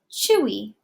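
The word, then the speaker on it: Twi: is it looks like Thuy but it's actually pronounced Chui and so this was actually something that I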